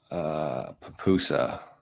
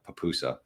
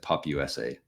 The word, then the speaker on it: pupusa: Maybe one day soon we'll get to El Salvador and we can get a papusa. I really butchered the initial pronunciation of that. I said Pup USA.